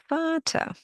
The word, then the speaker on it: Vater: Vater. Yes, it means father. But why did I pronounce the V like an F? Well, it's one of the German pronunciation rules. Vater.